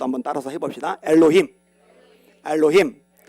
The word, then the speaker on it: 엘로힘: 발음이라도 한번 따라서 해봅시다. 엘로힘. 엘로힘.